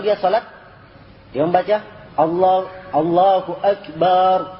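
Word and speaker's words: الله أكبر: membaca Allah Allahu akbar Ah ini banak ini I banyak terjadi seperti ini Allahu akbar bak panjang di belakang Allahu akbar harusnya tapi bak di kepany Allahu akbar ada kesalahan hati-hati ya sebab ini salah sedikit saja maknanya yakni menjadi berat ya sebab kalau dia katakan Allahu Akbar itu bentuk jamak dari kibr bentuk jamak dari kesombongan jadi Allah itu mempunyai banyak kesombongan begitu ya jadi maknanya sangat jelek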